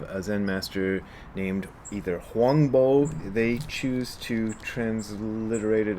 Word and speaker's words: Huangbo: recorded sayings of a zen master named either huangbo they choose to transliterate it as huangbo jiun in this version it's in the past been translated as huang po you know these things are kind of complicated